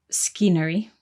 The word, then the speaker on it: scenery: so scenery is spelt s c e n e r y but the c is silent at the beginning so we don't say scenery we say scenery good